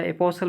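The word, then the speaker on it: apostle: बोल सकते हो या अपोल बोल सकते हो टी साइलेंट भी रहता है इसमें तो आप जो सही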